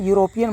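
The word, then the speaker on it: European: है जरूर क्या है तो इ क्या होता है ओवेल लेकिन इसको हम लोग क्या बोलते हैं यूरोपियन बोलते हैं जब लिखेंगे तो इसको ऐसे लिखेंगे यूरोपियन यहां पर आया य य य कोई भी मात्रा है वो बाद में आता है पहले जो व्यंजन है वो आता है तो य य आया यहां पर इ जरूर है लेकिन यहां पर लगेगा ए ठीक है तो इसीलिए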